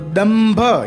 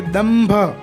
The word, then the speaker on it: दंभ: तो दंभ, यहाँ पर द न आधा नहीं आएगा, न का उच्चारण नहीं होगा। भ है और वो प वर्ग का है और उसमें अंतिम अक्षर जो पंचमा अक्षर है वो म है, इसलिए दंभ ऐसे प्रयुक्त होगा।